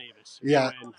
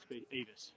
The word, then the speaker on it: Avis: just kicked off from how do you say your last name Avis or a AI uh my last name was Avis Avis okay so